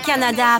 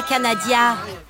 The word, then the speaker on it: Canada: le chien sans collier errant là ah c'est Canada pas canadiia merci Madame merci Madame non mais oh ils savent même pas prononcer un pays voisin tu vas dans